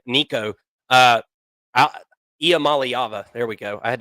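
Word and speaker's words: Iamaleava: whatever the hell his last name Nico uh IAM malava there we go I had to remember how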